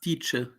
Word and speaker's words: Dietsche: There's no R in a last man, but it ain't stopping you people. Well, actually, it's Dietsche. Dietsche. Okay, Dietsche. It's a right? German surname.